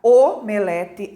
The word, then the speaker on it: omelete: o nós temos ali a palavra omelete alcova e crosta né veja lá o o é fechado né Tem um timbre fechado e de acordo então